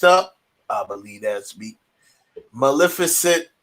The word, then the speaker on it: Maleficent: how you pronounce it that's how you correctly pronounce it it's maleficent um i know this because i love this